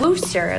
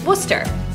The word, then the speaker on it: Wooster: how to pronounce Worcester. It's not Wooster like rooster, and it's definitely not Worcestershire.